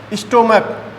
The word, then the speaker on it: stomach: ठीक है, जैसे स्टोमक, STOMACH, ठीक है, इसकी उच्चारण ध्वनि क्या आती है बेटा, यदि हमने कहा